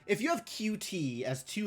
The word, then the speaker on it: Qt: There is a software called QT and it's pronounced as cute.